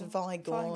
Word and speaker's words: Vigor: it does, everyone always pronounces it Vigors, but it's only got one G, so it's Vigor.